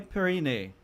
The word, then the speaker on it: Periné: So it's Periné. Monsieur Periné, with the kind of, inflection at the last one.